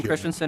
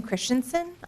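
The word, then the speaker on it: Christianson: your testimony thank you Mr chairman uh Megan Christensen and Terry M Megan Christensen and Terry Matson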